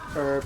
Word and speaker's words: herb: I was quite surprised that uh it's like in in common pronunciation that it's herb and not herb.